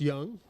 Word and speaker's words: Yung: Hung Yung Chuan, pronounced Young, right?